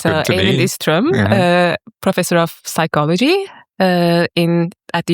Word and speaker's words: Eivind Ystrøm: I would say Eivind Ystrøm too. So yeah, that sounds good to me. Eivind Ystrøm, professor of psychology at the University of Oslo, who works mainly on genetics of personality.